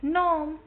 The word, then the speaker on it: homme: Okay, as you already know, H is silent in French. So here we would say it as c'est un homme.